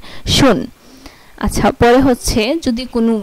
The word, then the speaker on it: schon: যদি কোনো ওয়ার্ডে SCH একসাথে থাকে তাহলে এটার উচ্চারণ হবে তালিবাস্যয়ের মতো। যেমন SCHON, শুন, SCHON, শুন।